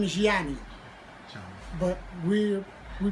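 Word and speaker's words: Jonnie: and that is spelled j-o-n-n-i-e my name is Yanni but we're we pronounce it generally okay it was Jackie Wilson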